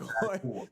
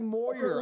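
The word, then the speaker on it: Heuer: No, Tag Hoyer. Dude, I thought it was Tag Moyer. I'm still saying the watch's name wrong. It's an H, not an M.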